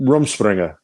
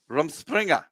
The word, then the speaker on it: Rumspringa: Rumspringa. Rumspringa. It means it's a Pennsylvania Dutch word.